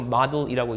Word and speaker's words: model: 사실 모델도 아니고 model이라고 읽습니다.